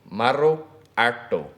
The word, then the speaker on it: Maruartu: Maruartu. That's a rolled R in there.